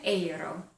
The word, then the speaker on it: euro: So they would say un euro, un euro. They just pronounce euro a little bit differently over there because they pronounce pretty much every letter.